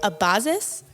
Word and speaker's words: Abazis: a a very fun guest here today Chris abazis yeah did I say it right I nailed